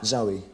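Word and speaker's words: Zowie: Zoe, Your son's name is Zoe Bowie.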